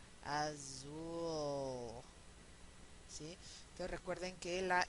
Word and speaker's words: azul: palabra favorita que es azul que tendrían que pronunciarla azul sí Y ustedes van a pronunciarla azul Sí entonces Recuerden que la l oscura no